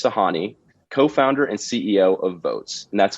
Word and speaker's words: Voatz: joined by nimitz sahani co-founder and ceo of votes and that's spelled v-o-a-t-z votes is on the forefront of